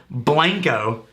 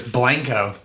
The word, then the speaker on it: Blanco: videos back I hassled Blanco Texas and I totally insisted that it was Blanco it's actually Blanco if you go to Blanco and say Blanco they